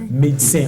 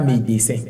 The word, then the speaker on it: médecin: très mag le monde médecins on n'était pas médécin morandi médecin ya pas de sens aigu sur le e et puisqu'il ya c